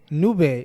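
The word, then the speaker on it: Nube: that out yeah hey so new Bay is spelled nu be e because it's Spanish for cloud cloud okay yes yes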